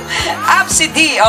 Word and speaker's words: Abcde: It's quite hard because if you read it how they spell it, ABCDE. Abs-a-day, okay.